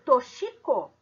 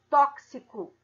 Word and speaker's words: tóxico: outro exemplo é tóxico eu escrevo tóxico é com x mas eu leio toshiko ou eu leio tóxico como é que é o som tóxico então no momento que eu emito son da palavra tóxico com a letra x e a ela tem som de ks então uma letra como